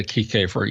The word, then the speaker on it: Kiekhaefer: And if I'm not mistaken, maybe you can tell me how to pronounce this guy's name. Carl Kiekhaefer? Kiekhaefer? Yeah, Kiekhaefer.